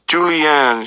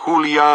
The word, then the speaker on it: Julio: the class this is Julianne she says I winced when she mispronounces my name he's from the tropical island of Cuba I try to correct her my name is Julio and I say but it's